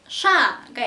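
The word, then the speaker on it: Ш: 영어의 SH 발음하고 비슷하다고 표현을 하면 될 것 같아요.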